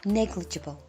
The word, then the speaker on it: negligible: in the lunar orbit would be negligible it's pronounced negligible it states here as well launched in December